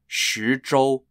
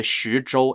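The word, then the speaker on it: 徐州: the Battlegrounds were primarily around the cities of shujol spelled x-u-z-h-o-u and boom boom spelled b-e-n-g-b-u the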